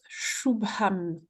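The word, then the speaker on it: शुभम्: Alors c'est un che hein, c'est un S avec un accent dessus. C'est un chou.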